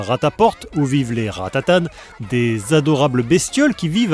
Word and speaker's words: Ratatan: D'ailleurs, c'est marrant parce qu'on dit Pat Pon mais Ratatan. Ce qui s'explique par le fait que Pat àapon vient de la contine. Il était une bergère tandis que Ratatan, le titre est prononcé tel quelque à la française, un à l'anglaise.